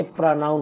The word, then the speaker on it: pronoun: अरे नहीं बच्चों, ये प्रोनाउंसिएशन होता है और प्रोनाउन नहीं होता, ये प्रोनाउन होता है। तो ये क्योंकि टू सिलेबल वर्ड है, ध्यान रखना है इसको, है ना।